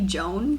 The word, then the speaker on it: Joan: The Snow Queen by, I realized I've been saying Joanne. I think it might be Joan, considering how it's spelled.